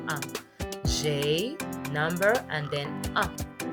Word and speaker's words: ans: Don't pronounce the S in your un.